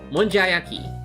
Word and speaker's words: monjayaki: It's not okunyaki, but I think it's not mja monjayaki. Yeah, it's called monjayaki.